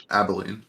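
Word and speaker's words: Abilene: I guess if you guys look over you'll you'll see um I cannot pronounce the name of the city. Is it ab Abolene or Abene? Abolene. Abolene.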